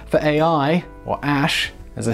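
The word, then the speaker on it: Æ: bizarre name of ex a sh a 12 and I only know how to pronounce that AE thing ash because I saw Elon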